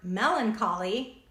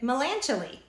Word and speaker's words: melancholy: I heard the word Melancholy said correctly in my head I would read it melancholy and that's how I said it said it in my head and then I heard someone say Melancholy and I was like